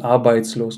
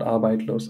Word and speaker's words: arbeitslos: Arbeitslos, not arbeitlos.